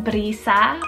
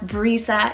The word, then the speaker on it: Brisa: you we have the airy name brisa or breeza in english b-r-i-s-a and this one